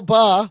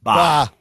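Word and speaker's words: Bá: Gerard Way, Gabriel Ba, also co-executive producing on the show. I just like the last name, Ba. Ba. What's your last name? Ba. It's badass. just one syllable.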